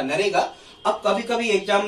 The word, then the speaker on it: NREGA: इसको पहले नरेगा कहा जाता था, देखो यहां स्पेलिंग लिखी है NREGA, पहले से कहा जाता था नरेगा।